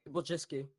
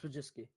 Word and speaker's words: Wojcicki: Wojcicki. Not that hard. It's Wojcicki. Susan Wojcicki.